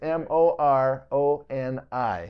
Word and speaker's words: Moroni: the koros islands well let me let me spell it for you it's m o r o n i oh that's yeah Moroni yeah it's not no